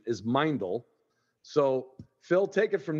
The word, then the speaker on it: Meindl: boots at hunting camp um but the proper pronunciation is mindel so Phil take it from there give me